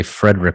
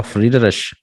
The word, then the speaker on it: Friedrich: I think it's German, and I used to say Frederick when I was a little kid because I didn't know how to pronounce it. It's probably Friedrich. Oh, hello, Friedrich.